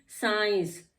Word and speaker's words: science: देखिए एग्जांपल में, साइंस, SCIENCE। अब क्या है हमारा? S आफ्टर S आ गया C, तो इसका कोई मतलब नहीं, हमने यहाँ पढ़ा साइंस, C को साइलेंट कर दिया।